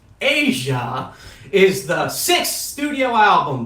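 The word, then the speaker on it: Aja: Asia, pronounced like Asia, is the sixth studio album by the American jazz rock band Steely Dan.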